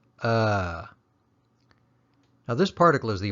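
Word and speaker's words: အ: of the alphabet and when you recite the alphabet it's pronounced ah but when used as a particle the pronunciation changes to uh now this particle is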